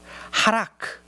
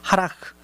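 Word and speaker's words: הלך: 하라크, 현대 히브리어에서는 하라흐라고 발음해요. 하라흐, 걷지 않는 사람이 얼마나 복된가요?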